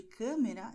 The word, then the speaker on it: câmera: E no caso de câmera, é um som fechado e também um pouco nasal, e eu explicarei por quê.